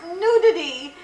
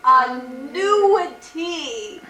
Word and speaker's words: annuity: I kep saying Mom it's not nudity it's a nity right a nudity and